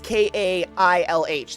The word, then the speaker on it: Kailh: It's like Kahle or something like that. That's a really popular switch brand, and they compare them because they have their own now. It's Kailh.